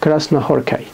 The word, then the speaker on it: Krasznahorkai: هو لازلو كراسنا هوركي بالسين، هنا سين وهنا سين، الاس زد في اللغة المجرية بينطقوا سين أو اس صوت الس. انا ما بتكلمش مجري على فكره، بس انا عملت بحث ودخلت وشفت الالفابت المجري بيتنطق ازاي، والاس والزد لما بيجوا مع بعض بيتنطقوا ازاي، فانا متاكد من المعلومه ديت يعني.